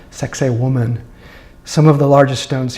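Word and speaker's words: Sacsayhuamán: Citadel near Cusco called sex a woman some of the largest stones here are over 100 tons sex a woman and that's how we were taught how to pronounce that sex a woman was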